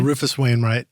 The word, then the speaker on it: Rufus Wainwright: Yeah, Rufus Wainwright.